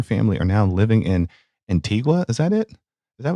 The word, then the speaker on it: Antigua: are now living in Antigua is that it is that what you said Antiga y Antiga oh I'm sorry I you're not supposed to pronounce the U I guess Ain there